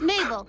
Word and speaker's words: Mabel: be okay okay okay my name is Mabel it rhymes with table and also I am